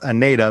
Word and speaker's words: Eneida: know her name is spelled e-n-e-i-d-a so it's pronounced aneta but it's e-n-e-i-i-d-a and last name is c-a-n-e-v is in victor so anita so if you type in e-e-n-e she